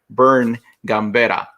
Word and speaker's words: Vern Gambetta: goes beyond one specific element and it's mr bern gambera hopefully i pronounced your name correctly bernie you did you